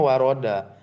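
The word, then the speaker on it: وَرَدَ: Lit- kana yaghsilu kaffaihi salasan kama wurida fi sifati Wurida. Kenapa wurida? Itu selalu bacanya waroda.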